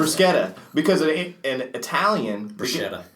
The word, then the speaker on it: bruschetta: I also thought that's how you said bruschetta because in Italian bruschetta. It's every C is pronounced with like a K sound.